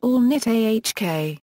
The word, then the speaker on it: Alnitak: Component stars equals Alnitak equals Alnitak is pronounced Alnitak.